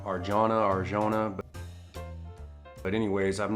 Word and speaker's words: Arjona: I think that's how you pronounce her name, Arjona.